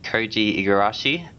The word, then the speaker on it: Koji Igarashi: That comes from, I hope I'm pronouncing this right, Koji Igarashi.